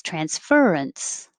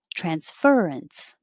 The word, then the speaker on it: transference: that i would know is that the stress on the first syllable or the second syllable and merriam-webster said both either one is fine but the most common one was transference transference 15 spacious as an